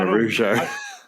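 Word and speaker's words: Araújo: because I was saying Araujo. Araujo, as I think Araujo. It sounds like it's got a W in there.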